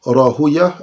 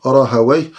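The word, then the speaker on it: Rahawayh: C'est une différence de prononciation entre les savants du hadith et les savants de la Nahu, les savants de la langue arabe. Les savants de la langue arabe disent Rahaway, comme ils disent Sibaway.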